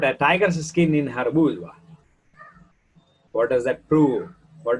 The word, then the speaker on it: boudoir: Boudoir is a private room, a bedroom for a woman. B-O-U-D-O-I-R is pronounced as boudoir.